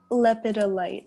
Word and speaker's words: lepidolite: Lepidolite, so Lepidolite.